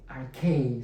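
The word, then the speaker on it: ἀρχή: Ahora, la palabra en el idioma original griego para principio es la palabra, esta que usted ve aquí, archei se pronuncia.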